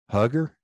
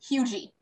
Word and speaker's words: Huger: How would you pronounce that, sir? Hugger? No. I got it. See, that's what I went with, and it would start so many arguments. It is pronounced Hugy.